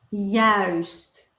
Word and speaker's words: juist: Yes, so pronounce the ui. The ui is one of the most difficult ones. And is it always pronounced like that when we have these two letters together? Yes, the ui. Ui, ui, ui. Perfect. Ui, huis, muis.